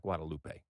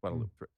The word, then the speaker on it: Guadeloupe: And by the way, we're calling it Guadeloupe, 3 syllables, right? Not Guadaloupe. 4 Guadeloupe. syllables. Guadeloupe, 3 syllables.